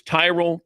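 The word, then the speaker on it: Tyrol: It's Tyrell Pickleball Shoes. You spell it T Y R O L.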